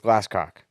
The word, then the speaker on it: Glasscock: His last name is Glasscock. Yes, exactly how it sounds is how it's spelled.